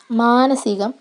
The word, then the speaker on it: മാനസികം: കായികം, മൗലികം, ഭാഗികം, വൈദികം, മാനസികം. അപ്പോൾ ഇതൊന്നും ദീർഘിപ്പിക്കേണ്ട കാര്യമില്ല. മാനസികം, വൈദികം, ഭാഗികം, ഇങ്ങനെ ദീർഘിപ്പിക്കേണ്ട കാര്യമില്ല. അത് തെറ്റായ ഉച്ചാരണമാണ്. ഇവിടെ ഹ്രസ്വം മതി. കായികം, ഭൗതികം, ലൗകികം, മൗലികം, അങ്ങനെ ഭാഗികം, വൈദികം, മാനസികം. അപ്പോൾ ഇതാണ് ശരിയായ ഉച്ചാരണം.